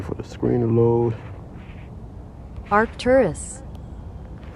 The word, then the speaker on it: Arcturus: And let me get the correct pronunciation of these names. 1 second. Waiting for the screen to load. Arcturus. Arcturus.